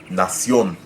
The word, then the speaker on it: nación: Let's use the word nación. So in this case, the stress is on the last syllable, but the trouble here